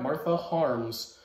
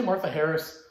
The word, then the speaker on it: Martha Harms: to bring you martha martha harms who did i say it wrong before did i say martha harris i think i did it looks like martha harris sorry i can't read martha harms uh who